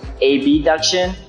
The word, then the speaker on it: abduction: that's the difference between a b duction and adduction so i'm going to be saying ab duction so the pronunciation is easier to distinguish so the strength portion